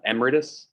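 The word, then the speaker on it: emeritus: um there they would be called like uh emiratus which is how you pronounce it um not good advisors they're they're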